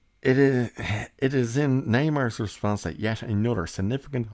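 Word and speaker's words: Namor: Neymar's dialogue reveals that rather than being pronounced name or like the original Comics it would be pronounced Neymar in order to bring the character more fully in line with his new Aztec mine Origins and that's where that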